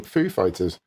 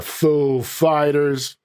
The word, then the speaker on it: Foo Fighters: another stab at pronouncing Foo Fighters. Back in 2003, the Pulp Fiction star introduced the band on SNL, putting the emphasis on fighters rather than foo.